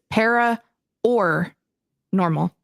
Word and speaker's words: Para OR Normal: And just in case, because of how you pronounce it, it is Para OR Normal, not Para OR. That's Para OR Normal Guyz.